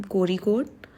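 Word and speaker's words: Kozhikode: ए आईआईएम कोरीकोट ये केरला में है ये जगह जेड यहां पे साइलेंट है।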